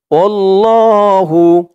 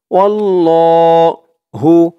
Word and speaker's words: আল্লাহ: অনেকেই এই আল্লাহ শব্দটাকে আল্লাহ, ওয়াল্লাহ এরকম ভাবে উচ্চারণ করে। আসলেই আল্লাহ শব্দের ডানে যদি জবর অথবা পেশ থাকে, খেয়াল করে শুনবেন, আল্লাহ শব্দের ডাইনে জবর অথবা পেশ থাকলে তাহলে আল্লাহ শব্দের লামটাকে ল বলতে হয়।